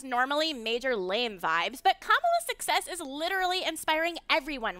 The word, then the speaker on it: Kamala: exciting to african americans her name is pronounced comma like the punctuation mark look kamala okay okay seriously i've